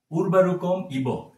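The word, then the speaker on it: উর্বারুকমিব: এখানে উরবারুকম ইব এটি একসাথে উচ্চারণ হবে।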